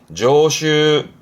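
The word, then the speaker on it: 常習: 발음은 조슈, 조슈.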